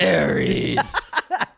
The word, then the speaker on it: Ares: Ares.